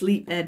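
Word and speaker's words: leapèd: ed to extend so instead of saying leaped is one syllable it's leap edge so two clear syllables which extends the length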